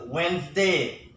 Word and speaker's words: Wednesday: when and whether this day know the correct pronunciation of this word is Wednesday when they are not wet nesting Wednesday when